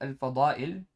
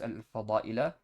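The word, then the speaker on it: الفضائل: That's why despite fada'il being jama' muntaha al-jumu', it's reflecting its state of jar with a kasrah, not with a fatha. Okay, so don't pronounce this al-fada'ila on account of it being jama' muntaha al-jumu'.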